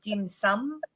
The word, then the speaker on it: dim sum: I think Americans say dim sum.